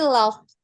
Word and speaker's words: laugh: They laughed, played, and enjoyed the sunshine. Okay. How you pronounce this, Miss? Laugh, Laugh. laugh, Iya, laugh, pakai F ya.